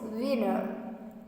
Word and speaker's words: winter: The example is winter. Winter, that is the pronunciation is winner.